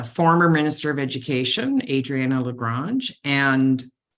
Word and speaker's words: LaGrange: minister of Education Adriana LaGrange and I think she pronounces it LaGrange sorry that's my French uh language coming in um and I most